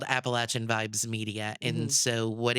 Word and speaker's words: Appalachian: learned the word as Appalachian. And so I had no idea until we got here in 2023 that it was to everybody here in the south pronounced Appalachin.